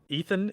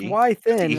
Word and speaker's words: Wython: lathered on a giant ethan is that how you say his name no it's it's it's why thin right right then why